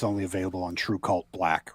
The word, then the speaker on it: TRVE KVLT: And just to clarify for anybody listening who wasn't watching earlier, it's spelled TRVE KVLT, but pronounced True Cult, right?